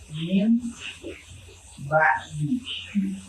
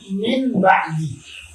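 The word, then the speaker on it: مِنْ بَعْدِ: maka contohnya sekarang musik min ba'di, min ba'di, min ba'di. Nah, kayak gini. Harusnya kan min ba'di, maka membacanya itu nunnya diganti ke ba dengan disertai dengan gunnah.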